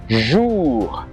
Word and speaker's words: jour: Okay, so whenever you see OU in French, OU in French is pronounced as OU. OU, okay, just like jour, jour, which means day, le jour, or la journée, journée, OU.